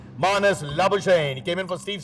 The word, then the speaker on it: Labuschagne: Marnus Labuschagne. And you have pronounced it correctly as far as Australia is concerned, but not as far as South Africa is concerned. Marnus Labuschagne.